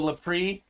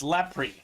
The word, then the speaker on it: Lepre: I'm just glad we're saying his name right, because I know for the longest time we were saying Michael Lepre, and it's Lepre.